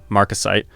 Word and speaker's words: marcasite: Solid gold, sterling silver, and my favorite marker of the era, marcasite, pronounced m-a-r-c-u-s-i-t-e.